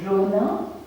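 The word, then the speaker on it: रोना: And cry is Rona.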